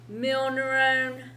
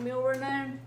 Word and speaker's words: milrinone: Dopamine, dobutamine, milneuron. And you'll probably want to keep this one in mind, milrinone. I said it wrong, milrinone.